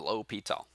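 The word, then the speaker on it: L'Hôpital: like l'hospital's rule right the s here is silent low pete all the guys french so there you go and there's the pronunciation down at the bottom l'hopital kind of an interesting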